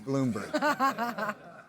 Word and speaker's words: Blumberg: It's spelled, okay. Yeah, it's weird. It looks like Blumberg. Well, he's saying it but wrong. It's Bloomberg.